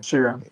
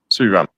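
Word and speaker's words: Sriram: From his point of view, he has decided that Suram, even if he has Suram, how do you pronounce the name? Suram. Adrian. Suram.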